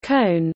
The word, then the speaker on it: Köln: Cologne, English, German, Köln, pronounced Cone, listen, Ripuarian, Kola, Kohl,